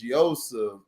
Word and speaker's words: Joseph: Hold on, his name is Ermias, and they don't pronounce it Joseph. It's Yosef Asgadam.